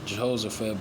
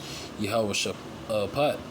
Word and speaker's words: Yahweh Shaphat: The Valley of Yahweh Shaphat, or as is, it's written, it's going to say Jehoshaphat, but the proper way to say it is Yahweh Shaphat.